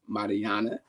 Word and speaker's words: Marianna: and we talked offline her name is pronounced Marana so I make sure